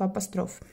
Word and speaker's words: апостроф: раз пробела между словами апостроф кстати не об остров апостроф правильно говорить дальше если же у